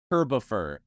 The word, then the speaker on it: Kirbopher: uh it's it's pronounced herbivor it's like Christopher except Kirby I made it my